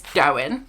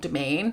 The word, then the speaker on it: Dowen: So I said Domain. It's Dowen, not Domain.